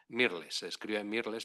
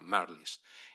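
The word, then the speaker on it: Mirrlees: Mirles, pero se pronuncia Merl.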